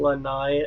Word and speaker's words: Lanai: Lanai as like a patio from the Golden Girls.